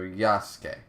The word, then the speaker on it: Yasuke: Ace says it's pronounced like Sasuke from Naruto. So Yasuke. Yasuke? It's because Sasuke, Yasuke. Okay.